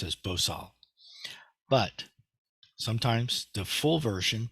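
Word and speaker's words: 보살: Korean more more exactly uh bodhisatwa is just pronounced as bosal but sometimes the full version both in Chinese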